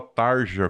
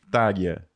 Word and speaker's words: Tarja: nome da mulher errada eu falava Tarja como se Lia né como na realidade o nome dela se pronuncia como tária e quando ela saiu